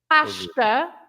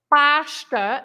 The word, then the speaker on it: pasta: But the sh sound, you have it, for example, in pasta, pasta, because again, you split the word in two. You say pasta. So the S at the end of this syllable, pash, is also pronounced as sh, right?